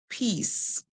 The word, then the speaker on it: peace: we hear e e the C makes a sound like s we s and this e is silent so we hear e e peace peace and we said